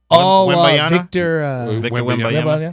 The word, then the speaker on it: Victor Wembanyama: Victor Wembanyama.